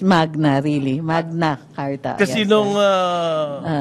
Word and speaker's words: magna: true Latin even yyung Magna Kum laude It's Magna It's Latin it's not mana as in manyak no no hindi mag No it's Magna really Magna karta kasi